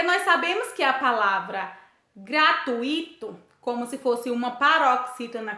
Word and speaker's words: gratuito: iremos para anunciar gratuito pois oe não tem acento e sim gratuito o encontro do e doe formando ditongo sendo assim como uma paroxítonas